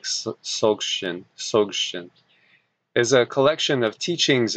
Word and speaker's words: Dzogchen: And this is I think I actually pronounce it more of an S, like Dzogchen, is a collection of